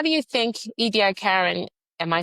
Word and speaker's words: Ediacaran: Do you um how do you think Edi Karen Am I saying it right?